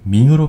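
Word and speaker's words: 明: 참고로 명나라는 밍이라고 합니다. 우리가 잘 알고 있는 명조체, 이 명조체는 중국 명에서 유행했던 서체를 본따서 만든 폰트라고 하는데요. 일본어로 명조체는 민초따이라고 합니다. 이 명을 밍으로 발음한다는 거 다시 한번 유의하시면 좋겠습니다.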